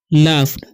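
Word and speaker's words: laughed: एंड लाफ्ड, ठीक है, GH silent है, इसे हम पढ़ते हैं लाफ्ड, ठीक है।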